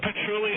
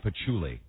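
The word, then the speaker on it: patchouli: o you know what patruli oil is I do it's it's called Puli oil it's it's what all the dead head girls wear with a c not an r Joe you're mispronouncing it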